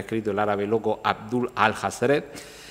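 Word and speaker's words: Alhazred: el árabe loco Abdul al-Hazred, que además se supone que es la forma en la que se pronunciaría en inglés Abdul, el que todo lo ha leído, all has read, pero escrito pues al-Hazred,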